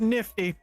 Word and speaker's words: NFT: Let it be known, folks, it's pronounced Nifty.